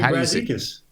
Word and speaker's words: Brazdeikis: Iggy Brazdeikis.